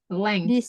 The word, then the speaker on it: length: This length ya. Length. Ini cara bacanya emang agak susah ya. Agak susah ya. Ya, length. Ya, cara bacanya ini. Aku kasih tahu ya. Length. Ada K-nya.